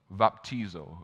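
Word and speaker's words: βαπτίζω: the water i use the the term it's pronounced vaptizel vaptizo right baptism right it means to plunge something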